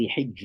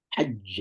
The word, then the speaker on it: حج: Or ولله على الناس حج البيت. Okay, حج. Okay, making sure you شد جهر. Okay, حج. حج. You hear no sound. حج. You hear no breath.